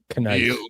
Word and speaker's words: kneel: I mean, he didn't do the silent K version. Kneel before your master.